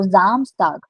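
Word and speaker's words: Samstag: Now whenever a word will start from S you will make it a Z pronunciation majority of the times. So Zamstag Zamstag and the last one Sunday is called they zonag again zed zont.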